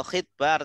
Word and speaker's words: khitbah: Hurufnya kan sama, cuma harokatnya aja beda. Kalau khutbah artinya khutbah. Kalau khitbah artinya lamaran.